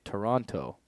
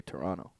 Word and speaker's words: Toronto: so that's weird uh I noticed that Americans say Toronto Canadians don't say the second T we say Toronto yeah I just make